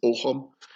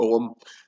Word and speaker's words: Ogham: It's spelled Ogham, but if you pronounce it in Gaelic, it's not Ogham, it's Ogham, or Ogham, and it's the tree